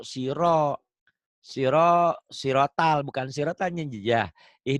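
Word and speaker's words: صراط: SH o Sod si ini r-nya benar bukan sirata tapi ganti o Siro Siro siratal bukan siratnyaah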